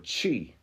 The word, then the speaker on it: qi: Like why Q I in specific languages in Asia is spelled, it's pronounced ki, and then that same word in that same culture in different times is pronounced chi, that QI, like qigong, or